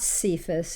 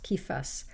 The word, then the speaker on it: Kephas: of the Latin translation, but it's not Cephas, it's k with a K sound, Kifas, as it is written in in the Greek.